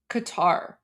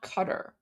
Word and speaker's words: Qatar: that sound in English that's why people say like Qatar it's it's definitely not cutter oh is it the